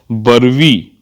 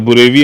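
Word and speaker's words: Burevi: होना चाहिए, चक्रवाती तूफान बरवी, बरवी की स्थिति, अब बुरेवी ऐसे मैं भी बोल रहा था बट इसका जो प्रोनाउंसिएशन है बरवी है, पंबन में पूर्व में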